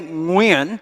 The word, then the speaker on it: Nguyen: Growing up as a Vietnamese immigrant and refugee kid in America in the 1970s and 80s, no one could say Nguyen, which is how it's actually pronounced in Vietnamese.